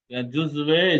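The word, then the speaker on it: جزو: जुजवे जो वाव যেটা আছে এটা উচ্চারণ হবে না, जुज है।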